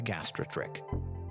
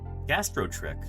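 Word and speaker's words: gastrotrich: In this case, an animal that we call the gastrotrick. Gastrotrick. That's how you say it.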